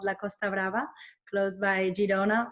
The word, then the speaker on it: Girona: How do you pronounce My city, Girona, Girona. It's like Girona.